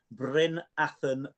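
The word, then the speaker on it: Bryn Athyn: So I'm probably going to pronounce this wrong, but tell our listeners about the Bryn Athen Beast.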